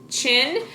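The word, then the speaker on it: Qin: Chin is spelled it's a name, so capital Q-I-N, Chin, and then she is S-H-I.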